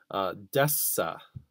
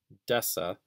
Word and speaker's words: deci: of the prefix deca if we make that a soft k sound uh the soft c sound excuse me desa desa we have one tenth